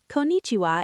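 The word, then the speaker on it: こんにちは: Konnichiwa is like your all-purpose hello for daytime.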